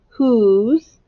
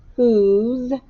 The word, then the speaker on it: whose: has an h but it does not make the sound of the digraph wh no it makes the sound of just the h the w is silent whose it has an o